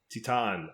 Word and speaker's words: Titane: It is called, and we did look this up to see what the actual proper pronunciation is. It's TITANE.